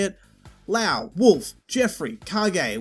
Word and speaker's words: Kage: it lao wolf jeffrey kage which is how i'm told it's pronounced not cage sarah jackie shun line